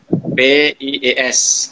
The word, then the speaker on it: PS: Mulai dengan pertanyaan Mas Roni, apa itu PS? Ya, bacanya PIES gitu ya.